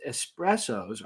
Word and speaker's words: espresso: out this is because espressos are made by forcing very hot water under high pressure through finely ground coffee beans so while the correct pronunciation is espresso with an S you can see where